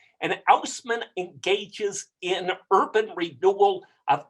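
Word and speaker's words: Haussmann: of louis bonaparte is eugene osman houseman is his english pronunciation and ousman engages in urban renewal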